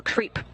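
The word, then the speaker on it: KREEP: have a weird component that we call creep. And it's spelled K-R-E-E-P, and it stands for potassium, rare earth elements, and phosphor.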